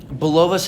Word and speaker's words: Bulovas: Joseph Bulovas, correct? Yep, that's how I'm going to pronounce it.